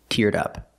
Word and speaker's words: teared up: in the past link The Sounds link the D sound teared to the next sound uh in up teared up dup dup teared up she teared up she